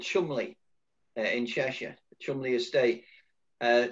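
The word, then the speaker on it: Cholmondeley: back many years um there's a place called chumley in cheshire chumley estate uh spelt chamondly is he's pronounced shumli and there was a few police around here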